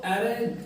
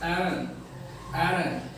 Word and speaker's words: arraign: एरग, इसका जो meaning ARRAIGN है, इसको एरन पढ़ेंगे। यहाँ पे ये जो AG होता है वो साइलेंट है एक तरीके से। एरन।